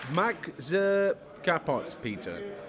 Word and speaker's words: Maxi Kapot Peter: Max Kapot Peter. Right. Spot on.